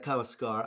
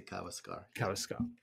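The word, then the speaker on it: Kawésqar: rather, is it the Kawaskar, is that how that's pronounced? Yeah, the Kawaskar. I'm always bad with accents, it's on the second part, but I say Kawaskar.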